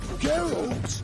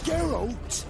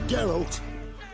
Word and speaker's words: Geralt: little come on Gerald you say geralt it's a geralt get out who a